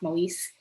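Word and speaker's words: Moïse: these two women penina moyesi and or perhaps pronounced moise not i've seen a few different on wikipedia and elsewhere they seemed it seems like the original pronunciation was more closer to mowi's and then later when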